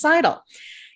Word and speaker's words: Seidel: Seidel is a Seidel. I got to correct myself on that. The correct pronunciation is Seidel.